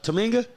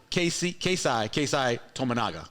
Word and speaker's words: Tominaga: Tominga? He missed the first. I'm saying it right? Yep. Keisai Tominaga. Tominaga. There you go.